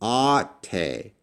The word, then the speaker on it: αὐτη: Can you pronounce this? This is αὐτη = "ah-tay."